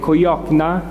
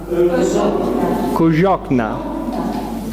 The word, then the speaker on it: Cojocna: How do you say it? Cojocna. Cojocna. Perfect. So we found out how to pronounce it.